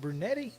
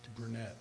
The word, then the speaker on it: Brunette: Is it Brunetti or just Brunette? Brunette. Okay.